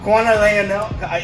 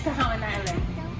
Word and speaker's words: Kahaunaele: You want to pronounce it for me because I've been fucking it up? Cool. What? Kahaunaele. Is there an N in there? No, there is. It's Kahaunaele.